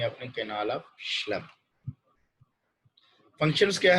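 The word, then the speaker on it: Schlemm: इसकी प्रोनाउंस करनी है अपने, कैनाल ऑफ श्लेम।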